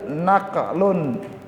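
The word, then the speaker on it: نقل: Yang kedua dalil naqlun, nun, qaf, lam. Bedanya apa Bapak Ibu? Yang pertama pakai apa? Ain. Yang kedua pakai apa? Nun.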